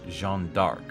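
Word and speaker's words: Jeanne d'Arc: comes from historical figure Joan of arc's French pronunciation which is Jean dark though there's been some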